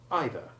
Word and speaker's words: either: which should know better, the common words either and neither pronounced in an American way with a long E1 sound so as to rhyme with breather, but this is best avoided.